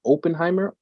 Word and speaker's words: Oppenheimer: oh how do you say it Oppenheimer I've been saying Oppenheimer Oppenheimer Lily how you say it oh my wife told me it's open hybrid I think it's um